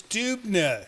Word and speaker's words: Dubner: German name. It's Dubner, because he actually spelt it phonetically right here, Dubner.